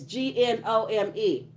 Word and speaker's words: gnome: It's Gnome. Don't be on there. Mm-mm. Not Nome. Gnome. It sounds like it say genome, but it's just gnome. The G is silent.